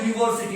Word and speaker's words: university: We will use A before a noun beginning with Y or W sound. Remember, Y and W are actually semi-vowel sounds, but they are treated in English as consonant sounds. So, a university. See, this may appear to be a vowel letter.